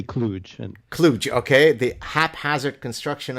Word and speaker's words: Kluge: Cluj, is that how you pronounce it? Cluj? People differ about that, but that's fine. I would say Kluge.